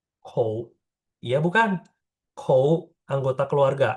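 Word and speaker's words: 口: Kotak ini apa bacanya? Kou.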